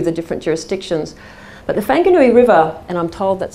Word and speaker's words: Whanganui: can run through the different jurisdictions but the whanganui river and i'm told that's how you pronounce it by a trusted person from new